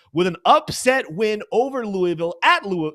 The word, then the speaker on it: Louisville: uh Josh say my my Kentucky family calls it Louisville someone I heard someone say the other day when you say it you have to say it like you've already had like at least three glasses of bourbon Louisville it's Louisville all